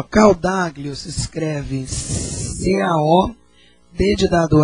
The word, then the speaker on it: Caodaglio: Ó, Caldaglio se escreve C-A-O-D de dado A G-L-I-O. Caldaglio.